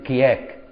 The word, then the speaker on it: كيهك: الاخيره اللي هو ايه كياك هو يتكتب كيهك ويتنطط كياك اله تتنطق الف كده باللغه القطيه القديمه تتكتب ه وتتنطط كده تبص